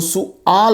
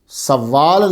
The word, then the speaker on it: سؤال: تو طلبہ خیال رہے اس کا تلفظ جو ہے وہ سؤال ہے، سوال نہیں ہے، لیکن میں بھی بولتا